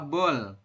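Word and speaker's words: 볼: Real di akhir dibaca L seperti itu.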